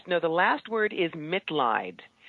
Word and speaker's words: Mitleid: the last word is MIT lied it's actually a german word it means compassion it's a chosen last main last name to remind me why I do what I do so MIT lied it'll be lit laughter